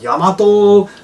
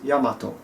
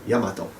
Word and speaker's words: Yamato: And just so there's no confusion, some people call it Yamato, blah, blah, but the pronunciation is Yamato. Yamato. Yamato. Yamato. Okay? In Japanese, the pronunciation is Yamato.